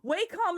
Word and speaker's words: Wacom: Wacom is the correct way to say it.